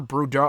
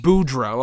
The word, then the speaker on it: Boudreaux: It's not like Scarlet Bordeaux. It's spelled differently, I think. I think it's Parker Boudreaux. Boudreaux. Okay, thank you. Boudreaux.